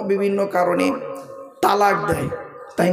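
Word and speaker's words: طلاق: আমি আছি এখানে তো শব্দটা কিন্তু তালাক নয় শুনে নিন শব্দটা তালাক নয় শব্দটা হলো তলাক তয়ে লাম আলিফ কফ ওর আরবি উচ্চারণ ত লাম আলিফ কফ ওর বাংলা উচ্চারণ কি তয় বয় ল আকার ক তলাক মানে পৃথক দেওয়া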